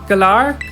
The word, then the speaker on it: Galar: just came back from a year abroad and galar what's the that's how you pronounce that yeah you pronounce it correctly okay